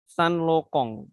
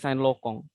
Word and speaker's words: Saint Laurent: terkenal ya kayak ini Saint Laurent parisienne pengucapannya bisa salah maka itu bisa-bisa malu-maluin ya padahal yang bener ngomongnya Pak stand Lokong adanya saya juga baru tahu kalau Mbaknya saintloco ya Pajero tulisannya Saint